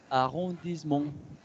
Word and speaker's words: arrondissement: Cuando tenemos una palabra larga y tenemos una E en medio de esa palabra, por lo general no se pronuncia. Entonces decimos arrondissement.